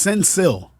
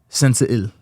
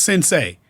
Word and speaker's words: Sensiil: And it's Sensiil. Sensiil. Okay. Because when I saw it, I thought it was Sensei. Nah, Sensiil. Yeah, Sensiil. But in Ge'ez, I believe it's pronounced Ge'ez.